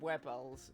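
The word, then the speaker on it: Wybel: Unlike Wibbles, which I used to say Wibbles, but there's a quest that confirms it's pronounced Wibble.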